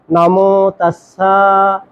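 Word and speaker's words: নমো তস্স: তাহলে উচ্চারণটা হবে নমো তাসসা নমো তাসা দুইটার ক্ষেত্রে নমো তাসসা ভাগ আরাহাত সামমা সামভুদাস।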